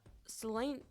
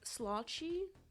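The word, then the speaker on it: sláinte: It's pronounced like slotchy.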